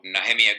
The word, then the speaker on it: Nehemia: is a gentleman called Nehemia Gordon we would pronounce it near my butt Nehemia his teachings are phenomenal